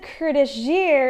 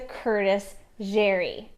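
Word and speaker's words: Curtis Jeré: about kurdish gear pieces from what i've been told the proper way to say it is see jerry the company was started in 1963 by jerry fells and his brother-in-law curtis hence the curtis jerry they really wanted to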